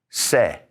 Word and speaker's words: ce: And the C is called se.